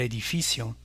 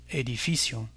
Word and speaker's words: edificio: Encore, l'avant-dernière syllabe est accentuée et on dira el edificio, edificio.